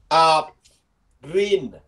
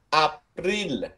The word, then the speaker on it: April: April. Từ này hai âm nhé. April, April, April, April.